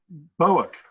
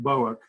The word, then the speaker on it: Bouck: senior officer named Robert Bowick, I believe the name is pronounced Bouck, who had been the head of what was called the Protective Research Services, a division of the Secret Service.